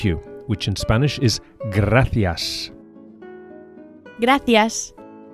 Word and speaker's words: gracias: Thank you, which in Spanish is gracias. Gracias. The C of gracias is pronounced as an English TH, as in thanks, the same word. Gracias.